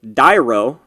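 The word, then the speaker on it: Daero: We're going to talk to Dyro first. That's how you pronounce his name. Talk to Dyro.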